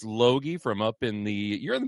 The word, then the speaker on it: Loge: I learned how to say his last name. It doesn't look like that, but it's Jace Loge from up in you're in the Bemidji area?